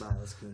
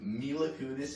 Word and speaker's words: Mila Kunis: Bro, I can't watch a movie with Mila Kunis in it without saying Milas Kunis first.